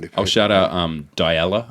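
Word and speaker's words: Dyalla: I'll shout out um Della, I think I think is how you say it.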